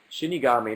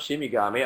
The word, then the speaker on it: Shinigami: eater I should perhaps Shinigami not shimmy garmi oh god you guys